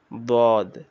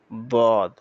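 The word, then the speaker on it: ضاد: দাল আর দদ যেন কখনোই না মিলে, দদের উচ্চারণ আমরা বলছিলাম এটা 7 নম্বর মাখরাজের ভিতরে আসছিল, যেমন দদ দদ দদ। এটা জমে মোটা আওয়াজ, আওয়াজটা জমে থাকবে, দদ।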